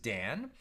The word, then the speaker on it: Dan: as it is stated Don shall judge his people right Don was one of the 12 sons of Jacob some pronounce it Dan uh but Don shall